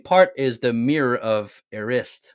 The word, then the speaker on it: Erised: So I read the audiobook. It was Erised in the Erised.